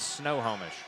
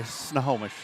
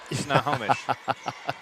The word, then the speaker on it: Snohomish: Only really one way to, well, there are two ways to pronounce it, and one of them is correct. The wrong way is Snohomish. Yeah. Well, I kind of use an A in the first part.